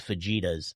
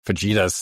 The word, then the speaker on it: fajitas: know my Americanness and how I like to try to pronounce things like they look. I go I'd like to get some of those fajitas. Fajitas. There you go.